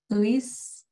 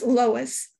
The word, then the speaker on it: Lois: Louis? Hi, it's Lois. But sorry about that. That's okay. A lot of people don't know how to pronounce it, but just think of Superman.